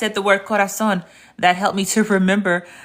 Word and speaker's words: corazón: But as you can see, as you can hear, the Z is pronounced like an S. Because if you remember, I didn't say gracias por mi corazón.